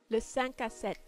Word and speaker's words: Le 5 à 7: So obviously there is a French pronunciation and I shall put it here. Le 5 à 7.